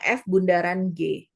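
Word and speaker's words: f∘g: FOG biasanya dibacanya gitu. Dibacanya F bundaran G.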